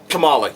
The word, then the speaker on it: Kamala: Marvel, I believe her name is pronounced Kamala. Hang on. I want to make sure I'm getting these names right so I don't butcher it, so y'all don't call me out on it. And Kamala, yeah.